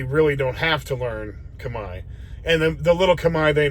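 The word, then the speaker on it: Khmer: community go talk to people go learn some Kamai which is their their uh their language there it's called Kamai it's spelled CH like KH h m e r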